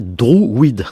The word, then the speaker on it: druide: quelle était l'origine de ce mot druide qui d'ailleurs il faudrait prononcer drouide donc il y a